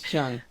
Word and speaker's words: Cheung: just gonna guess that if it's spelled that way it's usually pronounced Chung right because I knew